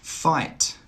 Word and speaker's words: fight: Fight, fight. Light, light. Height, height. Through, through. Thorough, thorough. In all of these words, the GH is silent.